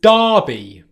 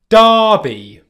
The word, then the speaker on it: Derby: There's a place in England called Derby. Derby. Derby. Derby. Derby. Derby. Derby. All right, that's spelt D-E-R, not D-A-R, D-E-R-B-Y. Derby. All right, that's one of the typical words in English that is pronounced differently to its spelled.